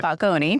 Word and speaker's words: Falcone: But you pronounce it Falcone. You said it perfect.